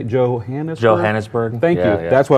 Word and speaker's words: Johannesburg: Johannesburg.